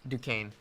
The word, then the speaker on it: Duquesne: How do you pronounce that? Is it a G5 school? Yeah, G5. Yeah. Duquesne.